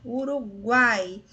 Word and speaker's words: Uruguai: Nesse caso, a vogal é pronunciada com mais força. Uruguai. Veja só, o A, que é a vogal, é pronunciada de forma mais forte.